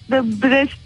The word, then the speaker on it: Brest: Fransızca'da da Brest diye okunuyor.